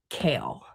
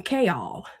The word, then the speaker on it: Chaol: Mass said that his name is pronounced kale, right? Like the vegetable kale. It's just spelled differently. But the narrator calls him chaol. So I'm over here saying kol and it irritates me.